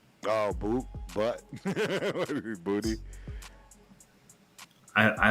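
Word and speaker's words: Boutte: Booty. I I like to say bouty. Bouty. I think it gives a little swag, but he apparently says that you pronounce it booty.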